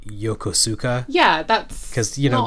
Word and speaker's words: Yokosuka: um you know like yokosuka. Yeah, that's because you know like people don't people don't generally know that the u is silent.